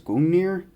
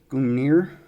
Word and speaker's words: Gungnir: And I believe the pronunciation is Gungnir. It's very much a Norse mythology name, as with the whole